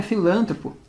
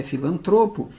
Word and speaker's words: filantropo: um filantropo Pois é não é filantropo é filantropo ela é uma paroxítona terminada em o ela não é proparoxítono então toma muito cuidado